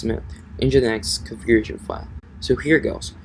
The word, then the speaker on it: Nginx: So actually it's just a matter of updating your PHP configuration file and your Nginx, or how do you pronounce it? It's Nginx configuration file.